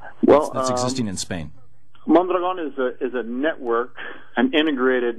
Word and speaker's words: Mondragon: Pronounce it Mondragon with the accent on the last syllable. Mondragon, okay.